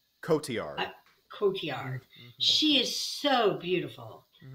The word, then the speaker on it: Cotillard: Cotillard.